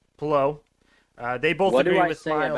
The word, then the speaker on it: Palou: Alex Palou, however Miles said it, he said it right. Palou. They both agree with Miles. What do I say about pronunciations, bro?